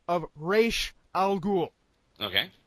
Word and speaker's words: Ra's al Ghul: is the pronunciation of Ra's al Ghul. Okay. It is Ra's, not Raz, you fucktards!